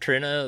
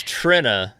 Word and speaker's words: Trina: I want you to I want you to set the record straight for them right now that it's Trina, not Trina.